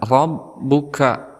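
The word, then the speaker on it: رَبُّكَ: angin yang keluar fa'ala Rob di sini juga ada roh yang berharakat fathah maka kita hukumi sebagai tafkhim kemudian Allah ini ditakdirkan kepada huruf selanjutnya yaitu ba maka cara membacanya yaitu ada hentakan Robbuka kemudian di sini ada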